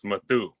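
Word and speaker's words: Mathew: yeah one t oh it's Matthew with one t is the real way to spell it and it's a whole different name it's matthu and it's an African descending name oh my God African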